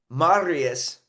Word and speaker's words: Marius: And welcome to the Distorted Dialogue podcast with Marius.